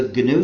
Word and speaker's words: GNU: than 18 years so it's not the new system anymore but it still is the gnu system and that's the way